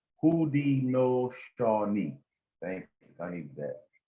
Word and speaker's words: Haudenosaunee: The people of the Iroquois Confederacy, also known as the Six Nations, refer to themselves as Haudenosaunee, pronounced Haudenosaunee.